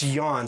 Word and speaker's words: Jan: It's Jan from Denmark. That's how we pronounce it.